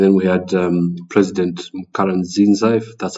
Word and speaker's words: Pierre Nkurunziza: And then we had um President Pierre Nkurunziza, that's how you say his name, from Burundi,